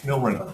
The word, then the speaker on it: milrinone: I don't know how to pronounce it. Is it Milrinone? Milrinone. Yes, Milrinone.